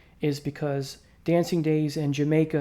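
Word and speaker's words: D'yer Mak'er: because Dancing Days in Jamaica as it's pronounced not Dyer maker or to my least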